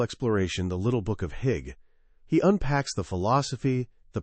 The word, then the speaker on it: hygge: The answer, it turns out, lies in a simple, profound, and completely untranslatable word, Hygge. It's pronounced hygge, and while you might stumble over saying it at first, you'll definitely know how to feel it.